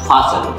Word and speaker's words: fasten: fasten, F-A-S-T-E-N, T is drop and we have to say like this, fasten, F-A-S-T-N, fasten।